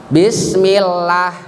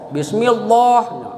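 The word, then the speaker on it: بسم الله: Bismillah. Dibagus-baguskan. Bismillah itu ilmu tajwidnya kalimat Allah sebelumnya harkat fathah itu nama kasroh itu namanya tarkiklam. Ya, tarkik itu artinya tip.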